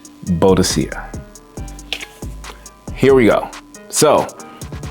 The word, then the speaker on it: Boadicea: So, we're going to stay in the house of Boadicea the Victorious. And yes, I'm going to say it again. I'm going to stress it again. It is pronounced Boadicea. Boadicea. Boadicea.